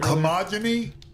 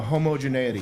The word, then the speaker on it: homogeneity: How do you say it? Homogeny? No, homogeneity.